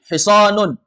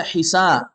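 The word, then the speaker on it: حِصَان: hisanun hisanun kuda kuda Jangan dibaca Hisa alhisanu nah ini antara tebal dan tipis ya pelajaran tajwid kalau dia tebal makhrajnya sama ini Shad dan Sin makhrajnya sama tapi kalau Shad sifatnya tebal Sin sifatnya tipis Hisan dan Hisan Kalau antum baca Hisan artinya kebaikan Kalau Hisan kuda beda kan Hisan kebaikan Kalau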